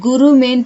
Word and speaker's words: குருமே: இது குருமே தேவான்னு படிக்கணும், குருமேன்னு படிக்கக்கூடாது. கு இல்ல கு, குருமே தேவா, அப்படிதான் இந்த வார்த்தையை நம்ம ப்ரொனவுன்ஸ் பண்ணணும்.